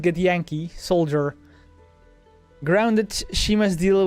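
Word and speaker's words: Githyanki: cosmos as a get get Yankee thing is pronounced get Yankee Soldier grounded she must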